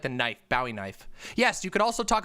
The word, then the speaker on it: Bowie knife: we know it is not it is not pronounced buoy knife it's a bowie knife bowie what